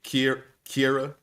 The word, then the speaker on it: Kira: When she took that message from is it Sierra or Kira? How does she say her name? I feel like it's spelled like Sierra. It's Kira. Kira.